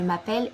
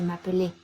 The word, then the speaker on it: m'appelle: Donc, on va dire je m'appelle et non pas je m'appelais.